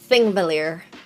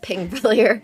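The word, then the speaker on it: Þingvellir: a longer line, and it's pronounced like a T. It's like a th sound. Thingvellir, not Pingvellir. Sorry, there's a very specific,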